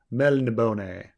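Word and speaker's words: Melniboné: Melnibone? There's an accent on the end of the E. Melnibone.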